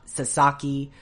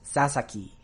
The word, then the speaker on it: Sasaki: equal amount of pronunciation so it's not Sasaki it's not Sasaki it's Sasaki Sasaki but then you have